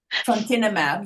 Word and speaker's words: trontinemab: It's pronounced Fonten. Trontinemab.